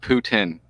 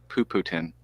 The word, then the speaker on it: Putin: Can you say like poo poo? Poo poo. Yeah. Yeah. So just put Putin. Putin. Oh, that's Putin.